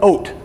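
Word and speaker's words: אות: Now, a sign in Hebrew is called an oat. Everybody say oat. In Hebrew, it's spelled aleph, vav, tav, which is interesting because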